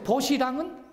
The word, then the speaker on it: 벗이랑: 버시랑은 연음 법칙 때문에 버시랑 이렇게 발음이 되죠?